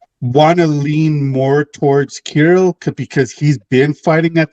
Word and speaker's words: Kirill: I'm taking Kirill. That's how we say his name.